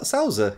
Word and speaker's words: Sauza: How would you pronounce that next one? What, Sauza? Is that Sauza? Sauza.